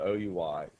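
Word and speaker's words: OUI: identifier the o UI it's not pronounced we this is not French class it's pronounced it's just spelled out o UI and this particular o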